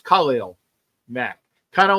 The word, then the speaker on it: Khalil: I I'll even say his name correctly It's Khalil Mack kind of like Superman because it's Khallel, right?